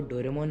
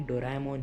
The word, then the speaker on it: डोराएमोन: Reason ये है कि डोरेमोन को डोरेमोन नहीं डोराएमोन ही कहा जाता है। उसका असली नाम और प्रोनाउंसिएशन यही है। इंडिया में इसे डोरेमोन कहा जाता है, बाकी यह डोराएमोन ही है।